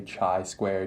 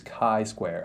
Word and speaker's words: chi-square: the chai square statistic if you say chai square to a statistician they are going to cringe on the inside so this is chi-square i understand how hard